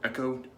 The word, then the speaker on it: Eco: Razor is the RazoRock Eco or Echo, depending on your personal pronunciation, with an Astra SP blade first and last use.